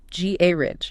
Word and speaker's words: garage: The British pronunciation puts the stress firmly, decisively on the first syllable. Ga ridge.